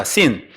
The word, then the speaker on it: sin: 신이 아니라 sin입니다. sin. 이게 S가 원래 신 그래야 되는 건데 미국 사람들도 이거는 sin 그렇게 할 정도로 이게 강하게 이게 발음을 하는 거예요.